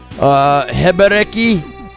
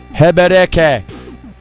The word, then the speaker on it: Hebereke: Hebereki? Excuse me. Hebereke. That's actually how it's pronounced in Japanese.